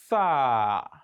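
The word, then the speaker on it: ث: Some people make the mistake in pronouncing this letter. They mistake it as in they mistakenly pronounce it as sin. They will pronounce sin and think they are pronouncing Tha. There is a difference between the pronunciation. When you just say, for instance, the word thumma in the Quran, which means then, thumma, and you say sum, you have just pronounced sin.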